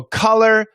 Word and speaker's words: color: youtube that does that so color color is a short u and collar oops uh